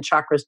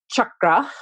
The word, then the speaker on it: chakra: And so we have a lot of SH sounds, but so the CH sound is chakra.